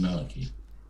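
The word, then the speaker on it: Vallaki: For Valaki, but it's officially pronounced Valaki.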